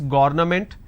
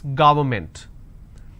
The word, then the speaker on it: government: So don't say it's government, it's government.